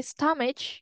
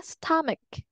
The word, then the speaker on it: stomach: fix that a bit you say stoage it's not stoage yeah stomach stomach stach okay so what happened